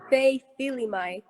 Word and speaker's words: Fei Faiva: And I'm going to try to pronounce your first name, Fei. Fei. How you say it, Fei? It's Fei Faiva.